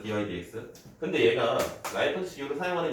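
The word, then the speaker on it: dy/dx: 그래서 이걸 dx분의 dy라고 읽지 마시고, 근데 나도 모르게 dx분의 dy라고 할 때가 많아요. 이게 그 뭐라고 하죠? 살아온 세월이기 때문에. 옛날에 어떤 아이가 그랬어. 자기 학교 선생님이 그랬대. 이거를 dx분의 dy라고 읽는 사람은 다 옛날 사람이라고. 그 이야기를 나한테 하더라고. 내가 dx분의 dy라고 얘기하는데. 그래서 되게 슬펐어. 때릴까 했어요. dy dx다 dy dx.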